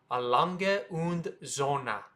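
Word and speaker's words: A. Lange & Söhne: Z very difficult so a long un Z AL un zon very very difficult if you don't get it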